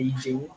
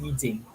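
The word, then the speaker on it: 易經: I'm using is the I Ching. You probably heard it or read it as I Ching, I Ching, but it's pronounced actually as Yi Jing, and it's an ancient Chinese system, about 3,500 years roughly.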